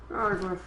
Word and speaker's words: Argarth: Argarth. Thought it would have been pronounced Gargwath.